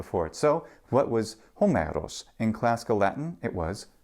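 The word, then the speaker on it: Ὅμηρος: you have a nice long vowel that follows hos this beautiful sliding down hos just like that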